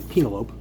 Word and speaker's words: Penelope: I, for one, say you're pronouncing it wrong. It's actually Penelope.